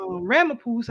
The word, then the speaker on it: Ramaphosa: Ramaphosa, I think that's how you say his name, to have a sit down with Putin Right.